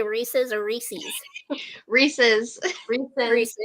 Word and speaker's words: Reese's: do you all say Reese's or Reese's Reese's Reese's Reese yeah Reese's you know it's the correct way because Reese's Pieces it rhymes yes that's how you know that's how you say it Reese's it's not Reese's